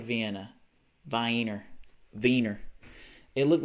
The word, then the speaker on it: Wiener: And when you speak German, you don't pronounce the W like that. You pronounce it like V. But Americans are like, well, it's W, so it's wieners.